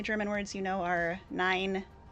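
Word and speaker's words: nein: The only German words you know are nine. Nine and ya is exactly how you pronounce it.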